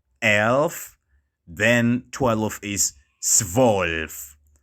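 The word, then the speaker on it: zwölf: act 11 is elf elf then twelve is svolf swolf so as i mentioned earlier it is very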